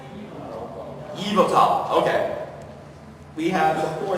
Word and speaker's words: Yveltal: Am I pronouncing that right? Yveltal, okay.